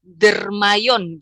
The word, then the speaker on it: Dermayon: Iya, Dermayon sendiri itu pronounce-nya itu Dermayon gitu ya, Teh ya.